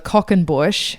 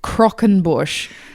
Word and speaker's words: croquembouche: Last week I mispronounced a certain dessert called the Cockenbush. It actually it's Crockenbush, and I'm not going to say the French pronunciation because I'll sound like a dickhead. Was it croquembouche?